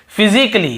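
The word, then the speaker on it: physically: पढ़ते हैं और देखिए फिजिकली हम क्या पढ़ते हैं फिजिकली ये देखिए फिजिकली तो यहां पर भी ए का उच्चारण नहीं हो रहा है और देखिए लॉजिकली लॉजिकली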